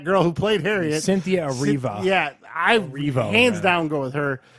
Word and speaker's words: Erivo: Cynthia Erivo. How you say it? Evrio? How do you say your last name? Erivo. Cynthia Erivo.